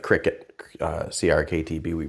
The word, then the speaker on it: CRKT: designed minimalist okay so we usually say like cricet uh CR KTB we pronounce it Cricut this is my little folz minimalist and it